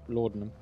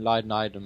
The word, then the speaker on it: laudanum: Yeah, laudanum. I know it's pronounced like that in case any of you are thinking, why does it keep pronouncing Leidenidum and Ludinidum and stuff?